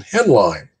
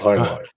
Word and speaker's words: Heinlein: high school i was using uh the pronunciation headline for robert heinlein right so i got that